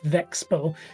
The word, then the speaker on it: VeXpo: And it wasn't until Kiara on stream said Vexbow did that we start shifting to the official pronunciation. Yeah. However, 3 days later, uh, Iron Mouse then said Vex Expo.